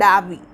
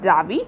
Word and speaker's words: Dawee: ആൻഡ് അവരുടെ അമ്മയും ഞാൻ പറഞ്ഞു ബ്രദറിൻ്റെ പേര് കൊടുത്തിട്ടുണ്ട് ഡാവി. യു can read it ആസ് ഡാവി ഓർ ഡോവി. It is spelled as DAWEE and he was a government clerk.